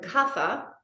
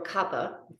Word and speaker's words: kapha: the doshes and so kapha or Kappa it's pronounced either way is earth and water